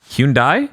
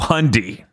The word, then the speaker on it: Hyundai: Get your Hyundai. Yes. Hyundai? No, Hyundai. Okay.